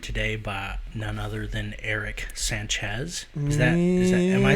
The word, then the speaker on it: Eric Sanchez: i am joined today by none other than eric sanchez is that am i saying that right yeah saying it right eric sanchez yeah that's it well that's that's an interesting